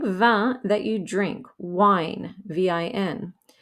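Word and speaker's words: vingt: is pronounced just like van that you drink wine v-i-n but the g and t are there even though they never get pronounced sometimes the t will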